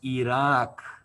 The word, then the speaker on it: Iraq: And remember, guys, it's pronounced Iraq, and it's pronounced Afghanistan. Not Afghanistan, Iraq. Afghanistan.